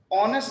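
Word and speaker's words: honest: अब मैं लफ्ज बोलने लगा हूं ऑनेस्ट स्पेलिंग शुरू हो रहा है एच से, और जो एच है वो आपके नजदीक क्या है? कांस्टेंट है, तो ये होना चाहिए था ए ऑनेस्ट, लेकिन हम क्या कहते हैं?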